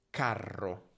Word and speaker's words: carro: quindi carta, carta, mentre se vedi una R doppia, allungala. Carro, carro.